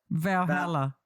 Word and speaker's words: Valhalla: Valhalla.